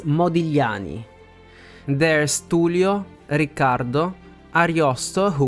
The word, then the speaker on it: Modigliani: be pronounced we have modani who was an Italian painter and sculptor by the way and the GL sound is pretty hard to reproduce many Italian people can't even say it I was one